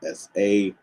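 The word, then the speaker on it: sꜣ: The pintail duck is transliterated with the letters SA, and it's pronounced Sa.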